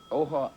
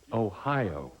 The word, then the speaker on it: Ohio: Can you pronounce this word? Mr. Bush. Ojo, aujo. Can you repeat that? Ojo, aujo. No, I'm sorry. President Fox. Ohio.